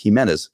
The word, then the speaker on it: Jimenez: i've always gone by jiminez for the most part uh my last name is actually pronounced jimenez um but um they